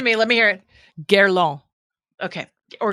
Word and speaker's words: Guerlain: Guerlain. If you're going to be French, it's Guerlain. Give it to me, fancy girl. Come on. Give it to me. Let me hear it. Guerlain.